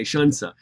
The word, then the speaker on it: Xunzi: get down to Shunsa, there's nothing about Xunzi that makes you want to say Shunsa.